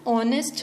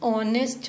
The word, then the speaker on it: honest: Example, an hour, an honest man. Now in both the cases the letter H is silent. We are not pronouncing the letter H, we are pronouncing the letter O. An hour, an honest man.